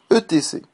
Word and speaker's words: etc.: Alors prononcez-le Jean et non pas jante. Quatrième erreur. ETC.